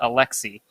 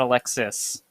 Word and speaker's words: Alexis: he's actually pronounced no his first name is actually pronounced alexi not alexis so i think it's